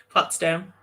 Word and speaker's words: Potsdam: new york born in potsdam i'm probably state potsdam that's how you say it brenda that's how